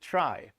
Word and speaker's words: trie: in computer science so let's just pronounce it try but stick to t-r-i-e good idea I don't